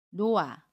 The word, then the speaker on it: 놓아: 보면 아침 히 흙과 모음 아가 만납니다 그러면 놓아 라고 받은 해요 같이 2회 s 는 발음하지 않고 요 o 음 않은 그대로 바로